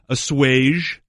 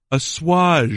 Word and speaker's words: assuage: Number 1, and this is the most common, is assuage with a hard J. Yeah. Okay. Number 2, assuage. Assuage. Ooh, with a soft G almost. Okay. And number 3, assuage.